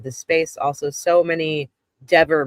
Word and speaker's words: Dever: And Rebecca made a joke and said, if you've ever pronounced Kelly Dever's name wrong, Dever, then you owe us $5.